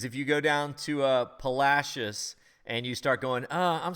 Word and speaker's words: Palacios: that all right everybody don't go wait he mispronounced it because if you go down to Palacios and you start going I'm sorry I am